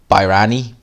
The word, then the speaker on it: Bayrani: Richard Bayrani is how you pronounce the guy's name.